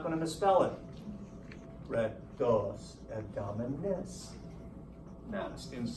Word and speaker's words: rectus abdominis: listen to me when I say sound it out and over-accentuate the last vowel. If you do that, you're not going to misspell it. Rectus abdominis.